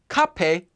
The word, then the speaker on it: 카페: together at a cafe note that cafe cape is more often just pronounced as gape shall we buy cheese